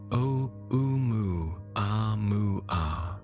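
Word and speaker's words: ʻOumuamua: It is estimated to be roughly 1 million times more massive than the first interstellar visitor detected, which was oma, pronounced o u mu a mu.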